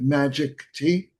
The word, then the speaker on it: Magiktea: But but is it your name's Julian and is it Julian and is it magic T? That's it. You got it. Magic T.